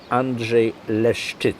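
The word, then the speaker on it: Andrzej Leszczyc: How do you pronounce it? Andrzej Leszczyk.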